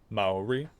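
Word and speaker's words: Māori: Maori. Ma rhymes with ba.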